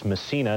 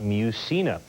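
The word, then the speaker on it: Mussina: right on television I.E it's MSA not muina of course for 6.8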